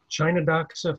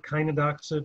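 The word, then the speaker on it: Chionodoxa: off the season with chinadoxa forbes eye blue giant chinadox or kynadoxa depending on your your pronunciation one of the great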